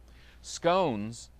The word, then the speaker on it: scones: to make them too scones kind of rhymes with gnomes let's make scones okay